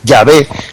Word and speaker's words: Yahvé: YHWH, en hebreo no se escriben las vocales sino las consonantes, y luego digamos se va el nombre de Dios, para no pronunciarlo plenamente, para subrayar el sentido misterioso hacia el nombre de Dios, se pone en consonantes, y luego cuando se pronuncia se dice Yahvé, pero al escribirlo se pone solo las consonantes.